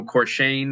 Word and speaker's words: Corchane: Uh, my name is Corchane. That's how you say it.